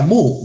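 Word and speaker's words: μ: Es un símbolo griego que se pronuncia mu, mu. Entonces, mu es igual a la suma de i igual a 1.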